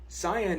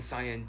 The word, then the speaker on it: cyan: roof of your mouth cyan in particular is typically pronounced with a dipthong in English and a dipthong is two vowels in the same syllable but the dipthong and Sayan does end in a pretty high front vowel cuz with those vowels